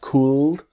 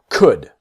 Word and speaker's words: could: The L is silent, so it's not could, but could.